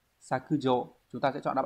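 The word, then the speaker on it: 削除: Hán tự đây là sẽ là chữ tước và chữ trừ đúng không? Như vậy tước trừ sẽ đọc là sakujo.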